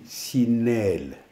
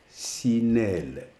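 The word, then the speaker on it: sineel: Les fenêtres en vidéo, on dit sinelle. Sinelle. S-I-N-E-E-L. Sinelle. La prononciation, c'est très important.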